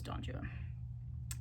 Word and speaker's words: Don Juan: Um, but my favorite thing I read of any of theirs was Don Juan. And it is pronounced Donjuan in the English, this particular English poem for the rhyme scheme.